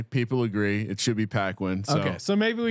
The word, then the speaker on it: Paquin: but for your information, it's correctly pronounced Paquin. Now to get to the question, and I feel horrible for mispronouncing Jake Paquin's name the whole time. Who's that? You mean Jake Paquin? Yeah. It's P A Q U I N. I just kind of put the cut in there.